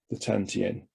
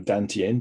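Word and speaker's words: 丹田: Once it's reached the Tantien, or Dantien, depending upon how you say it and which part of the world you're from, the energy that animates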